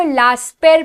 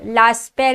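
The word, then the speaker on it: Laspeyres: बेटा उसको लास्पेर प्रोनाउंस करते हैं, लास्पेर एंड पाश्चर, जो मैं आपको करवाने वाली हूं।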